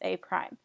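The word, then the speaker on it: A′: So we already know that if we see A apostrophe, it's pronounced as A prime.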